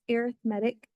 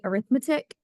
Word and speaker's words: arithmetic: Lesson Four and it's arithmetic sequences I know a lot of times people want to say arithmetic but we pronounce this arithmetic sequences so we're going to